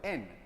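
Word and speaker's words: ἐν: Hay una preposición que de hecho suena como en español y significa como lo que suena en español, en, así se pronuncia en griego.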